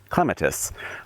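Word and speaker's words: clematis: This is uh Clatus or as the British say clemetists.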